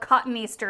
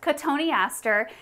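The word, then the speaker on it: Cotoneaster: you accidentally call it cotton easter in the beginning because i think everybody has done that it looks exactly like the words cotton easter but it's actually pronounced catoniaster and they are mostly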